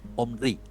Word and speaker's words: Omri: rey que se llama Omnri. Omri o como dicen otras versiones de la Biblia, Omri con acento en la I, ¿no?